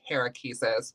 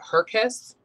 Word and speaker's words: Herkes: little collection of uh not herakises but hercus right i've definitely been saying your last name wrong this entire time i'm like so hierarchies i liked it so